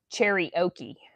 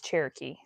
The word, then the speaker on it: Cherokee: Um, and he was calling it cherry oi and he asked AI how to pronounce it and she told him it was cherry oi but it's Cherokee.